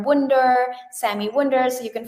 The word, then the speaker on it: Wunder: So just type my name correctly, spell it right. S A M I Sammy W u N D E R Wonder Sammy Wonder.